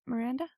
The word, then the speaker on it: Lin-Manuel Miranda: Miranda?